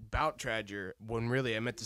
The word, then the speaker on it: Bout Tradger: uh give you weird names for anybody say butt Ranger yes tracks you know like people mispronounce it all the time but it's about Trager we we had a party and we had